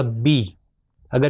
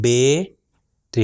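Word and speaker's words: بِ: آ جائے تو ہوگا بی. اگر اس کو میں کہوں بے تو یہ غلط ہے. مثال کے طور پر اردو میں ہم کہتے ہیں بیغم، تو یہ بے نہیں ہوگا بلکہ بی ہوگا.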